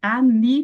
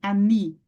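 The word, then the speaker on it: עני: Aí vocês lembram, o Aleph, ele é mudo, certo? Qual é a outra consoante muda que nós temos no hebraico? É o Ain, né? Então, o Ain também é mudo. E nós temos também uma palavra escrita com Ain, que é o que? A pronúncia é o quê, gente? Ani também, Ani, tá?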